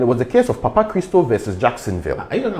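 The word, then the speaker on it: Papachristou: Christo. It's Greek. It sounds like Ghanaian, Papa Christo.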